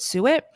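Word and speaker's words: suet: so write it down s u t that's how it's spelled and you pronounce it Su it for my new carnivore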